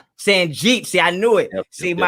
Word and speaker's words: Sanjit: Sanjit. Sanjit.